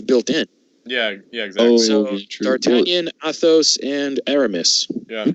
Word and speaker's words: D'Artagnan: And the last of the four is D'Artagnan. I do know that is the correct pronunciation.